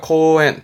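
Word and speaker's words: 公園: 뭐가 있다 공원 이군요 공원은 코우엔이에요 코엔 발음은 코엔 있데 표기는 코우엔 있니다 코엔 3번 가게에 누구는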